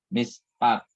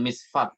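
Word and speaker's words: מִשְׁפָּט: Mispat, bukan misfat ya, bukan misfat bacanya, bukan ya.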